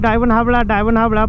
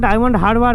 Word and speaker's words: ডায়মন্ড হারবার: আমি হচ্ছে হয়তো উচ্চারণটা ভুল করতে পারি, ডায়মন্ড হাবড়া বলে অ্যাকচুয়ালি অভ্যাস হয়ে গেছে, ডায়মন্ড হারবার হবে ওটা।